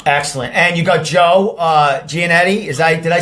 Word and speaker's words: Giannetti: And you got Joe Giannetti. Did I say his? How do you say his last name? He's Joe. Giannetti.